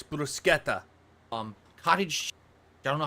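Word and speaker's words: bruschetta: it God damn it brusketa brusketta yeah it's brusketa um Cottage I don't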